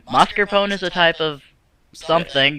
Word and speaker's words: mascarpone: I get past it, it's gonna be Marzipone. What? It's mascarpone. Mascarpone is a type of something that's We're food-based.